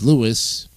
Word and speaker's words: Louis: in our Museum collections Louis pronounced his name his own name as Lewis not his 1964 record